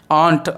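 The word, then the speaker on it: aren't: ஆண்ட் அதாவது நம்ம எப்படி இதை ப்ரொனவுன்ஸ் பண்ணணும் அப்படின்னா, நம்ம அத்தைக்கு வந்து இங்கிலீஷில் சொல்லுவோம் இல்லையா, ஆண்ட் அப்படின்னு சொல்லுவோம் இல்லையா. ஸோ கிட்டத்தட்ட அதே ப்ரொனன்சியேஷன் தான்.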